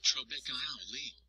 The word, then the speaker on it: trabeculae: It is made up of a mesh-like network of tiny pieces of bone called trabeculae, pronounced trabeculae.